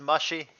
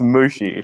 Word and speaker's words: Mushi: Jabba, are you intentionally pronouncing it as mushy? Yeah. What is it about Mushi? I don't care. I'm pretty sure it's Mushi. No, I'm 100% sure. Have you ever seen or heard of the anime Mushishi? It's what it's based off of.